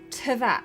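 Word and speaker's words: Teyvat: Yes, but you pronounce it TVAT.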